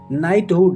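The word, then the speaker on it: knighthood: पर लटकाने वाला बैग नाइटहुड यहां पर भी के साइलेंट के एन आई जी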